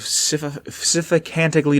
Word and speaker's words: sycophantically: Utilizing both, the Master rallied an army of sycophantically devoted humans and super mutants.